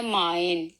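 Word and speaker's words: mein: ठीक है, आगे है आए, ये आवाज देगा माइन, यानी कि आए जो सा है जब भी लफ्ज में आएगा तो ये आए की आवाज देगा, जैसे माइन।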